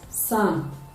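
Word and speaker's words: psalm: some ways for instance the p-s-a-m-l-m which is pronounced as sun does not reflect the sound although p as an alphabet is in the spelling of the word so this is to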